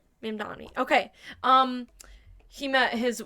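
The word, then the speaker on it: Mamdani: I think it's I thought I was pronouncing it Mandami. Yes, that's right. Mandami.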